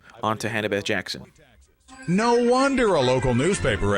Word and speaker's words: Jackson: no longer have the last name Jackson that does rhyme with taxon.